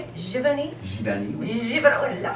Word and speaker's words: Giverny: Giverny.